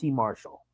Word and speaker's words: Marshall: match Jay Lethal versus Q Marshall pronounced Marshal but whatever don't ask it's how he pronounces it fair I think